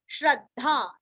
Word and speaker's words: श्रद्धा: आधा श, स्तव मधीयानश, श्रद्धा श्र के ऊपर आघात, भक्ति भ के ऊपर आघात तीरस्व, समन्वितः म के ऊपर आघात न्वीरस्व, श्रद्धा भक्ति समन्वितः युज्येतात्म यूरस्व